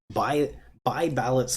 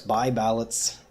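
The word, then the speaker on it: Buys Ballot: or is a law, by Ballott's law, and it's written kind of funny, by, but you don't pronounce the S. By Ballott's law.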